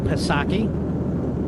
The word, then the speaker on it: Psaki: But I want to circle back to quote the late, great Jen Psaki. They tell me the P is silent.